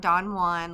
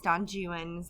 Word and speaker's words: Don Juan: on his life um no it's not Don Juan like Don Juan DeMarco but it's Don Juan's how it's pronounced and Byron's in Byron's